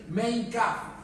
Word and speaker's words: Mein Kampf: Adolf Hitler, por ejemplo, en un libro que en su idioma se pronuncia así, Mein Kampf, se titula Mi lucha.